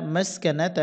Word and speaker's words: মাসকানাহ: কাসকা নুন জবর না মাসকানা তা পেশ মাসকানাতু এখানে চিহ্ন আছে আমরা এখানে করবো ওকফের সময় গোল তাহা হবে উচ্চারণ হবে মাসকানাহ একসাথে বলে মিনাল্লাহ মিনাল্লাহি